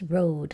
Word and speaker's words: rode: So we add that silent E, and how do we read that word? That's rode, like I rode my horse yesterday.